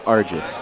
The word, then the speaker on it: Argis: I'm just hearing that it's Argis. I've been mispronouncing it.